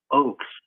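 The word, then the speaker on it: Ochs: There's a fellow by the name of Peter Oaks. It's spelled O CHS who lives in the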